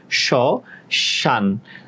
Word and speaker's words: শ্মশান: শ শান, শান, এখানে অটা উচ্চারণ হচ্ছে না, ওই জন্যই এখানে কি করছি? দন্ত ন নিচে হসন্ত দিচ্ছি। শ্মশান বলি না, শ্মশান।